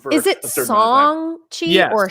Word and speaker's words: Shang-Chi: pronounced wrong is it song chi or shong chi song chi so there's you leave the h out okay i've heard it's